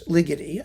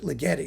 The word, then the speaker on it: Ligeti: It's Ligy. I mean, you can pronounce it legi like spaghetti, but I think it's liy.